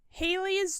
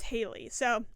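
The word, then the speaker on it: Haly's: flying graysons travel in Haley's traveling circus I believe is how you say it hi's I think they say it as Haley so I'm sticking with that Haley's traveling circus and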